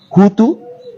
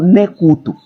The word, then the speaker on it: Kutu: Os europeus portugueses, por não conseguirem pronunciar Kutu, eles falam Nekutu. Nekutu. Mas se chamam Kutu.